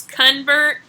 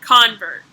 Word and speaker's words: convert: then there's convert but you can see it's convert and convert is a noun which is a person who changes his or her beliefs so they are pronounced a little bit differently sometimes depending on the part of speech the second word